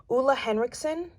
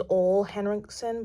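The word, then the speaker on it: Ole Henriksen: really liked it it's i think you pronounce it oola hendrix oola henriksen i used to think it was all henriksen but it's oola i'm pretty sure correct me if i'm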